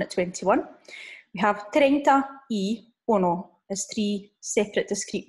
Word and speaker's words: y: We have 30 y uno as three separate discrete words there, okay? So 30 y uno, some of you may already know that the letter Y, which we're pronouncing as E there, we're not saying 30 y uno, okay?